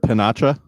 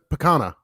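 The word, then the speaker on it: picanha: Is that how you say that word, pinacha? It's like that cut of steak. It's like a sirloin cut. Like it's how do you say that? Picana. Picana? I think so.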